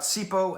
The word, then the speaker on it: Sipho: music in this case i'm reviewing sipo which is spelled s-i-p-h-o period it's important you have